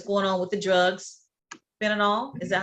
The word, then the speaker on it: fentanyl: Fentanyl, is that how you pronounce it?